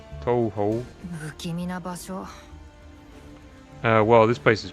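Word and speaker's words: Touhou: That's not even the proper pronunciation, because you have the little U sound on it. Toho.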